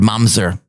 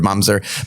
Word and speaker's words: mamzer: We'll use the word mamzer.